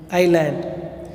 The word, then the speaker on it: island: இஸ்லாண்டுன்னு சொல்லக்கூடாது, S silent, ஐலாண்ட்.